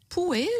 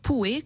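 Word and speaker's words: Pouhe: Alors j'ai une suggestion de livre que j'ai reçu, donc elle dit un livre d'Erika Poué, je crois, ou Pou, comment vous prononcez ça, Claudia? P-O-U-H-E. Oui. Donc elle dit, Poué, Poué, d'accord, a écrit un très beau livre.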